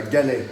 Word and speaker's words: galets: How do you say that? Like they are galets. We call that galets. Galets.